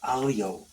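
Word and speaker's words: aglio: little black color okay now here's another one alio well see in Italian you the G silent so it's pronounced alio guess what that is garlic now I could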